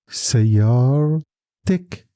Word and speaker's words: سيارتك: سيارتك. Small e under the letter before kaf.